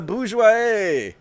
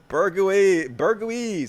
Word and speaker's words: bourgeois: Bezos is the bourgeois. Did I say it right that time? Bourgeois. Burguese. That's how I like to pronounce it.